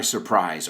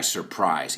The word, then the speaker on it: surprise: I never know when holidays are, or, they catch me by surprise often, right? Pillar por sorpresa is to catch by surprise. Y vamos a pronunciar esa palabra, surprise, no surprise. Sir, como señor, prize.